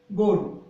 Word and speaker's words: গরু: গরুতে আমরা নরমালি এভাবে লিখি গরু, কিন্তু বাংলা একাডেমি সেখানে করছে গরু, অর্থাৎ এই গটাকে আমরা যখন উচ্চারণ করি তখন কিন্তু গরু, অর্থাৎ ওকারান্ত, কিন্তু গরু আমরা বলি না, কিন্তু বলি কি গরু, অর্থাৎ এখানে ওকারান্ত উচ্চারণ দিয়ে সেটাই বানানটা সঠিক করছে, অর্থাৎ গরু।